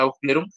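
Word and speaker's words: Aufklärung: clerum no alemán no así bueno así se pronuncia a clerum y este y lo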